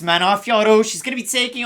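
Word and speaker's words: Manon Fiorot: It's pronounced Manafioro.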